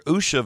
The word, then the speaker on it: Usha: Days after Usha Vance, or Usha.